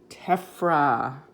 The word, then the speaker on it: tephra: in solid chunks called tephra remember we learned that pH has the F sound tephra now tephra can be tiny